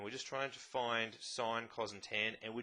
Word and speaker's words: sin: theta the three ratios sine spelt sin but pronounced sine cosine pronounced cos and